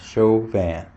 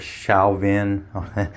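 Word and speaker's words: Chauvin: it it's chauan that's sounds show van uh it's spelled c h a u v i n um a lot of people that are not from around here call it Shin or some weird name and there a swn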